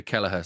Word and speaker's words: Kelleher: I'm delighted as well with the Irish because everyone can pronounce my surname over your way. I get all sorts of different versions over in the UK and everywhere else, but the Irish know how to do Keller, so that's perfect.